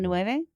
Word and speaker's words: Villeneuve: Now, whether you've seen the 1984 version of Dune or Dennis V's, I've heard people keep pronouncing his name differently. Villeneuve?